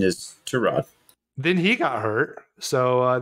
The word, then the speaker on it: Tyrod: The correct pronunciation is Tyrod.